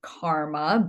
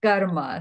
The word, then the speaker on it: karma: And I know the Western world, they pronounce it karma, but for here, we're going to say karma.